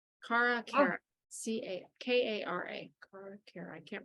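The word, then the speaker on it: Kare: it's her daughter's name Cara Cara c-a-k-a-r-a Care I can't remember it could be either that's my sister's name oh really I haven't done it spell if it's spelled k-a-r-e yeah but it's Cara because I I remember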